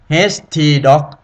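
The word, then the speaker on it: htdocs: คุณ จำ ไว้ เลย htd หรือ ออก เสียง คำ ว่า HT Dog คุณ คลิก แค่ นี้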